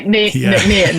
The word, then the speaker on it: Nc'Nean: tried to pronounce it earlier i think i butchered it so well that's why we shortened it to the nickname because it's like 13 letters and there's not